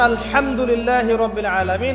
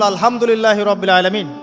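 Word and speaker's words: الحمد لله رب العالمين: বলেন একজন কন্ঠনালীর মাঝখান থেকে এখান থেকে আপনি উচ্চারণ করছেন আলহামদুলিল্লাহি রাব্বিল আলামিন অর্থ দাঁড়াচ্ছে সমস্ত প্রশংসা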